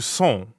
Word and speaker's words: sont: So that would be où sont. Où sont. Right. Où sont. Sont. Sont. Sont is nasal, so it rhymes with bon, like at the beginning of bonjour.